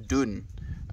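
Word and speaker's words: Donne: friends been a while young don pronounced young dun wrote the poem meditation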